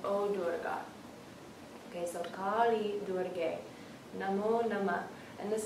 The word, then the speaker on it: Kali: So the name of Kali has this kind of L in it. Kali. Yeah. And the reason it's very nice to really nail those subtleties in the pronunciation, it's a small difference, it's just a small repositioning of the tongue.